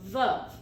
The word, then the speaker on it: Veuve: by V Cleo and let's talk about this pronunciation it's not V Cleo it's VV like glove it's a French word and it